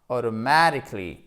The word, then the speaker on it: automatically: Donc, on va mettre une petite pression, si je puis dire, sur la première partie du mot, ce qui donnera automatically.